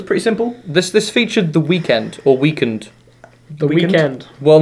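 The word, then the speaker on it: The Weeknd: This this featured the weekend or weekend. The weekend. Well, no, it's it's actually spel weekend. He has said that you pronounce it the weekend.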